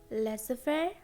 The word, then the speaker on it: laissez-faire: There are only two words, laissez-faire, rendezvous. laissez-faire, rendezvous. Well, that's it for silent letters and silent letters series.